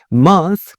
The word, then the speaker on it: month: 이렇게 말하고 싶으면 He has been there for a month 이렇게 말해주시면 되죠 He has been there for a month 한 달 영어로 a month 이렇게 말해 주시면 되고요 month 발음해 주실 때 m o n mon th h